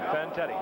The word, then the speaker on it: Fantetti: Fantetti.